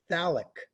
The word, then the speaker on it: phthalic: liqu and hydride phthalic you say it like there's no pH in there so if you're if you're confused about that the stupid pH is just ignore that when you say the word phthalic anhydride and that's got